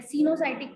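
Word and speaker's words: coenocytic: तो इसमें ओ साइलेंट है, पहले वाला जो ओ है वो इसमें साइलेंट है, सीनोसाइटिक पढ़ते हैं, ठीक है।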